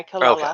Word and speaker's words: Kilala: spelled it with the R's a lot as well, but it's pronounced with the L sound. yeah, Kilala.